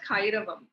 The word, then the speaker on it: Kairavam: you know my brand um so yeah it's pronounced as kairavam kairava means um it's a Sanskrit word and